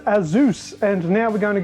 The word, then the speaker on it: Asus: 3 Pro so there it is it is pronounced Aus and now we're going to go take a